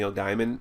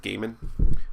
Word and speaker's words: Gaiman: almost like American Gods from NE Gman where you're or Gaiman I know how pronounce that uh where you're like